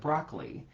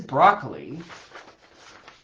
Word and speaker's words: broccoli: Like broccoli is broccoli. Broccoli. Is it broccoli? Is it a triplet with three equally emphasized syllables? Broccoli. I don't think it's that actually. Um, I would I would probably say two plus one.